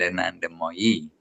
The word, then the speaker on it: Anandamoyi: Leelamoy and Anandamoyi. A long I at the end.